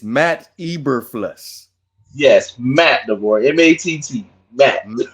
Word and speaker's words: Eberflus: Now, had his name been Mama Mama Baba, you would have been able to pronounce every letter, every syllable in their name. Okay, so it's Matt Eberflus.